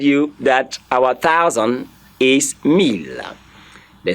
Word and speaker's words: mille: to also remind you that our 1,000 is mille. The spelling is M-I-L-L-E. In French, it's spelled M-E-L-L-E. M-E-L-L-E. That is a mille. It's not mille, please. It's mille.